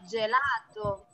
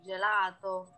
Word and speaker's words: gelato: Sì, gelato. Jadi kan di Indonesia banyak, di Surabaya, di Jakarta, di Bali, Jogja, es krim Itali. Tulisannya kan pakai G. Tapi kebanyakan orang Indonesia ngomongnya gelato. Nah, harusnya Sì. gelato.